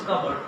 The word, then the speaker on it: cupboard: We often pronounce it as cupboard. This is not cupboard, this is cupboard.